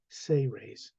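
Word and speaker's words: Seres: book s-e-r-e-s but it's pronounced phonetically as if it was spelled s-a-y hyphen r-a-y-s say raise this is a human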